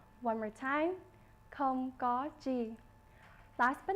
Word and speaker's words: không có chi: You're welcome in Vietnamese is pronounced không có chi. One more time, không có chi.